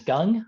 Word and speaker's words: Gung: me my name is Gung um it's pronounced like gungho that's easier to remember